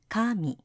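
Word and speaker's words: 神: compare that to this Kami Kami Kami Kami Kami Kami Kami Kami now that was God that that that uses the high low while the other two used the uh uh low high okay so so the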